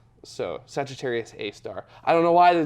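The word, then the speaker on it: Sagittarius A*: And then the actual black hole's designation is Sagittarius A star. So it has the little asterisk next to it, but it's pronounced star. So Sagittarius A star.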